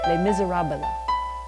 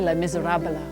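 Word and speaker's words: Les Misérables: Now, how many people have found themselves trying to speak French and they add 2 or 3 syllables like Les Miserables? You go to France and you say Les Miserables and people think, no.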